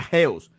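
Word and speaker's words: ἕως: Aquí miramos eh, Aquí miramos la palabra hasta, se pronuncia geos, dice de fin incierta, conjunción, preposición y adverbio, dice de continuación, hasta, de tiempo y lugar.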